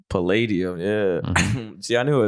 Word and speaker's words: Palladium: the what is it at Mar the Hollywood padium Palladium yeah see I knew it was you say